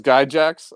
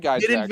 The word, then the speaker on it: Gygax: But ask Wesley how he says Gygax. So, I don't know if we can go with this is Guy Jacks. He says Guy Jacks.